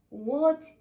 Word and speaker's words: what: So W, we pronounce it as W, and H is silent, so we're gonna say W, what, what.